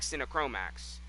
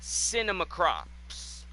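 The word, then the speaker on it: Sinomacrops: Some of it's just ridiculous, like Cinechromax. Cinemachrome. Don't listen to how I pronounce it. It's Cinemacrops. I'm going to call them Cinechromax, though.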